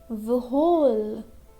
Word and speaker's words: whole: Now here in this word we have W-H-O-L-E, but we can't pronounce whole. Okay, that will be wrong. We'll pronounce whole. This W is silent.